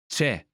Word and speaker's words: C'è: C'è. C'è. C'è. Is the contracted form of Ci è. Ci. there. Ci. È. Is. È. Dropping the vowel sound from Ci. makes the phrase C'è. easier to pronounce.